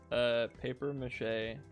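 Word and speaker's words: papier-mâché: Makes life-size paper mache. Please, could you please look up how to spell that?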